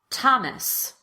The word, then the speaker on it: Thomas: The most common exceptions are words that are spelled with TH, but pronounced as t, or the T sound. Let's go through them together. Repeat after me. Thomas. Teresa. Tie. Time. Thames. Esther.